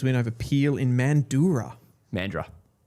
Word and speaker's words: Mandurah: Mandurah is the correct way.